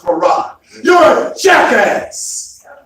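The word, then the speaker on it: Fard: And he said, no, it's Farad.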